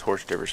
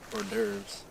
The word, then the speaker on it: hors d'oeuvres: Horse divers are hors d'oeuvres. And Greg spelled it out for me, so it makes more sense now, but Mike has been pronouncing hors d'oeuvres horse divers.